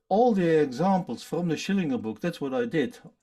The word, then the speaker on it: Schillinger: don't you study the shillinger Shillings by the way I pronounce it the German Russian way I suppose I know that's in the U.S you always say Schillinger um he said well